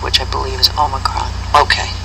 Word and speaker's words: Omicron: And they said Omicron or Omicron? There are two different pronunciations that people in the English language pronounce it, but I would go with the original Greek, which I believe is Omicron.